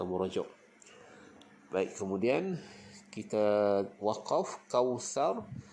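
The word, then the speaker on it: كوثر: Baik, kemudian kita waqaf kausar. Bila waqaf tu pastikan kita lembutkan ra tu, kita tebalkan ra. Kausar, tebalkan. Okey, jangan kausar, itu nipis. Kausar, kita tebalkan.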